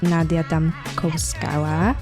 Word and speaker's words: Nadia Damkovskaya: I'm here with Nadia Damkovskaya. Yeah. The pronunciation is right.